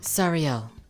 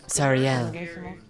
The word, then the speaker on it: Sariel: Sorry, how do I pronounce that? Sariel. Sariel? Sariel. I'd rather see your pretty face. Isn't that what I said? Said it with no L at the end.